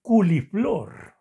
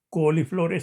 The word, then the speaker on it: coliflor: También escuchaba yo a una persona más que todo decir culiflor en lugar de coliflor.